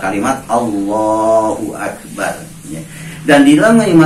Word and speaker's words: Allah: Jadi dengan 2 kalimat Allahu Akbar, ya. Dan di dalam mengucapkan Allahu Akbar juga awas dalam pengucapannya, jangan terlalu panjang A-nya, Allah. Jadi kalau kita mengucapkan Allah jadi Allah. Nah, insyaallah nanti mungkin bahkan